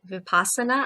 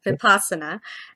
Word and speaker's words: vipassana: think um and please please correct me on the pronunciation of of is it vipasana? I said it incorrectly vipasa. So I'm sorry about that. So vipasana and I think you